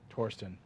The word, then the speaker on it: Thorsten: an interim thorsten heinz it's actually pronounced tourism from what i understand torsten whatever either way sounds